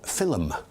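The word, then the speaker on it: philome: in Romeo and Juliet the word film is spelled p-h-i-l-o-m-e therefore film and that's a very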